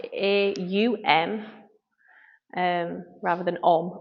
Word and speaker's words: Om: pranama I was reading about the importance of om which is pronounce a u m um rather than om o m and it's